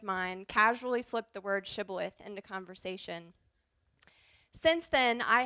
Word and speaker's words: Shibboleth: means that you're an ear of corn it's pronounced Shibboleth it has come to mean a peculiarities of